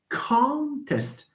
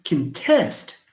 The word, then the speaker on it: contest: a context contest but when it is a verb it's contest so we have contest contest cont can test test and then test so as you can see when we move from the noun to the verb stress shifts which proves what we said